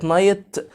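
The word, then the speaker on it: night: حرف الجي والاتش بتاعه نايت بايه سايلنت برض يعني ايه سايلنت لسه قنا دلوقتي سايلنت يعني بكتبه بس ايه ما بنطقهوش يعني اقول ايه نايت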